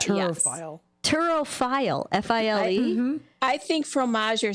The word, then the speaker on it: fromager: If it ends in ER, you do not pronounce the R.